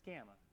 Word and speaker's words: gamma: That's gamma. Yeah, gamma.